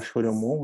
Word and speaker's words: Choriomon: Coriomon, como se fala Choriomon, né?